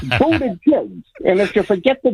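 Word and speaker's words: Buttigieg: pronounce Pete Buddha jig I call him Peak Buddha singam jig okay PE Buddha singam jig that's how to remember his name it's yeah it's it's it's budha Jigs and if you forget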